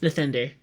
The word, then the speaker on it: Nathender: myself like that, but it's pronounced Nathender, just so you know.